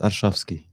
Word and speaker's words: Arshavsky: And Arshavsky, have I pronounced your name correctly? Almost, Arshavsky.